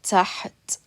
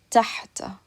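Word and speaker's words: تحت: Or you could pronounce it with the fatha. If it had a fatha on it, we would say tahta.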